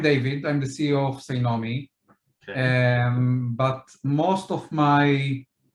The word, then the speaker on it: Cynomi: So David is from Tsunami, right? I'm pronouncing that correct? Is that correct? Cynomi.